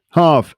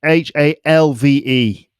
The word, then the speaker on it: halve: Halve, Halve, which is the verb meaning to cut something in half. When you halve something, or when it halves, and the L is silent, it's reduced to half its previous size or amount.